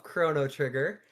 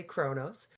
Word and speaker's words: Chrono Trigger: We're back with episode two of Chrono Trigger. I said it right even and didn't say Kronos.